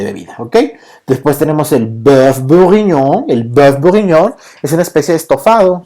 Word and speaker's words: bœuf: Bœuf es de res, ajá, en francés, bœuf, ¿ok? Recuerden que la O y la E es una letra que es compuesta, ¿ok? Entonces así se escribe y se pronuncia como si fuéramos a vomitar, ¿no?